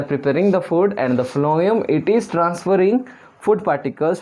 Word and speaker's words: phloem: The next is phloem. As the pronunciation is F, so it carries food, only food. So phloem, we'll write it carries food.